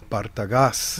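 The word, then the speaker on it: Partagás: Spanish Rosado by, and I'll say it correctly, Bartagas.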